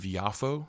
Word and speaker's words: Yafo: says like Tel Aviv yafo because there's no J in Hebrew and so that's how they say it and so like japa